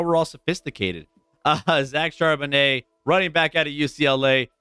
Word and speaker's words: Charbonnet: last name got it charbonnet like a Cabernet oh yeah you know